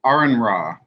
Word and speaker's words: Aron Ra: weeks ago I came across this video from Aaron raw and that's how you pronounce his name Aaron um he is a